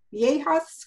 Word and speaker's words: viaja: ¿Cuándo viajas con tu familia? Ok, y es viajas. Viaja. Ok, es importante. Viejas would indicate old ladies. Vieja. Yeah, those two words are really close in how they're pronounced.